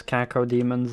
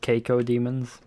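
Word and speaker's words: Cacodemon: Don't you guys also get annoyed when people pronounce Kako demons as Keiko demons? And then when people say, it's not Keiko demon, then the person corrects himself and says Kako demon.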